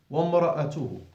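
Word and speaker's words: وامرأته: وَامْرَأَتُهُ. The Hamzat al-Wasl is not being pronounced because it's not in the beginning of the sentence.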